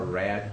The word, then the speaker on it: RAID: What will be set up is what's called a RAID system, or RAD, however you want to pronounce it.